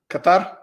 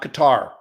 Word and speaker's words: Qatar: Persian Gulf countries, UAE, Qatar, Bahrain, becoming really attractive flag locations? Yes, all three of those are good locations. Those are the three: UAE, Qatar, and Bahrain. It's not Qatar. It's Qatar.